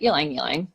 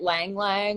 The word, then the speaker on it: ylang ylang: And that's how you pronounce it, ylang ylang. Not I get lang lang a lot, which just always makes me laugh.